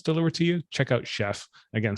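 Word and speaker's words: Shef: and the third one is called chef but it's spelled as s-h-e-f so chef and these uh this website and service is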